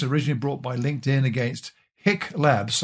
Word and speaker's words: HiQ: But this case, originally brought by LinkedIn against Hick Labs, I think I'm pronouncing it right, H-I-Q, a company that uses